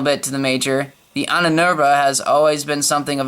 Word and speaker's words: Ahnenerbe: A hand-picked band of fanatical Nazi thugs, a group known as the Ahnenerbe, yeah, that's how you pronounce it, took over the mines shortly thereafter and sealed off the area.